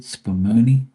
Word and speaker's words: spumoni: Spumoni, that's how you say it, Spumoni.